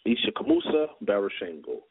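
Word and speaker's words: Ishakamusa Barashango: he's gone he's with the ancestors his name is spelled i-s-h-a-k-a-m-u-s-a b-a-r-a-s-h-a-n-g-o all right it's isha kamusa baroshengo you guys gotta look that up basically i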